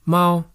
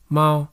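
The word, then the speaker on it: 猫: You can say Mao or Mao, and it still makes sense.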